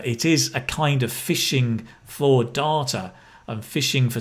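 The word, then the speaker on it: phishing: because they have influence fishing right fishing pronounced like fishing catching your fish but on the internet right slightly slightly different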